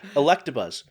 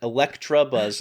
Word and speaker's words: Electabuzz: to change like uh electabuzz he he throws he throws an r in there electra buzz is how he pronounced and he he refuses to say it any other way yeah when he's